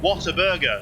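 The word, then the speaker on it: Whataburger: didn't get to try Water Burger or water burer whatever you want to pronounce it I I would say what a burger that that would be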